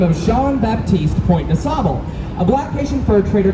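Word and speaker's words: Jean Baptiste Point du Sable: chalkboard to them, but the way to properly pronounce his name, it would be Jean-Baptiste Point de Sable. If you're pronouncing at least slightly correct, I'm not very good at French.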